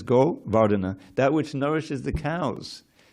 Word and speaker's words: Govardhana: This word vardatam should be familiar with us in the name Govardhana. No one pronounces it that way, but that's what it is, Govardhana.